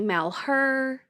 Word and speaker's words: Malheur: So you could say Malher. I say Maller. Okay. Because that's when I press the thing, it's the Maller. So Malher, Maller, whatever.